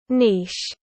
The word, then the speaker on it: niche: and by the way that is how it's pronounced um niche Niche Niche the first commercial Clipper printer was